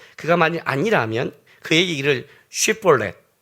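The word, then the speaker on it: שיבולת: 에브라임 사람이냐 하여 그가 만일 아니라면 그에게 이를 쉬볼렛이라 발음하여 요거 아니에요. 발음하라 하여 에브라임 사람이 그렇게 바로 말하지 못하고 시볼렛이라 발음하면 길르앗 사람이 곧 그를 잡아서 요단강 나루턱에서 죽였더라.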